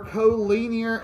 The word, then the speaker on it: collinear: So, today we're going to be going over collinear and coplanar. That's actually what this stuff means. This is not collinear.